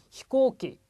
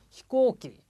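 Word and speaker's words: 飛行機: 자, 히코키. 코가 장음입니다. 다시 한번 들어보십시오. 히코키.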